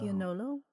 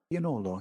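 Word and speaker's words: Piennolo: A lot of which I still can't pronounce. Pianolo is another tomato that's really good. That's very popular in Naples. Oh, Piagnolo? Pianolo, yeah.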